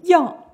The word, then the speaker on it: 养: 这个养啊，古代念为养，为什么呢？赡养父母和养犬马是不一样的，所以它的读音也不同。